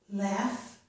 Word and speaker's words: laugh: It can sound like F at the end of words, such as laugh.